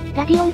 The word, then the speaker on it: Radeon: ラディオンとかラデオンなどと最近の若者